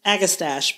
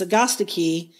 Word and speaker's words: Agastache: need to pronounce this atii because it is Greek not Latin H the other yeah